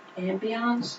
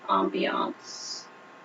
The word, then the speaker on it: ambience: I pronounce it ambiance. I've heard it actually be pronounced both ambiance and ambiance.